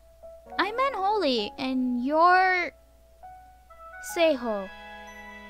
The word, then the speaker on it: Seihuo: meant only and your say ho i'm pronouncing in a say ho there's no need to